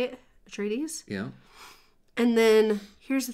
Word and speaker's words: Atreides: So Duke Leto Atreides, is that how you say it? Atreides?